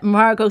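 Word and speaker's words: Margot: must be Margo's and Margo said M no actually I'm Margo the T is silent as in Harlow that's good wonders cuz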